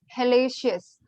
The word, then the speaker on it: hellacious: It's pronounced as Hallacious.